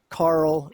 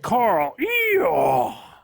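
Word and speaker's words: Carroll: carol spells c-a-r-r-o-l-l but the folks in this city pronounce the area kent carl colorado kent carl i have never heard of kent carl it's not really a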